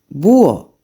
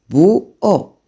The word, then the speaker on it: búho: For example, búho, búho.